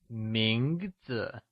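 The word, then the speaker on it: 名字: Mínɡzi is pronounced with a mid rising tone Lets try and say Mínɡzi Good job!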